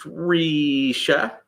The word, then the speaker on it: Risha: It's pronounced Risha, in case you don't know.